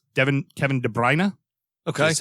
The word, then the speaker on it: Kevin De Bruyne: it's like the the where we think it's an o it's an ah so it's devin kevin de bruyne okay that's how it's